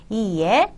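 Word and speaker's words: いいえ: 부정 의 경우 에는 "ie" 라고 발음 하며 , "i" 발음 은 길 게 합니다 .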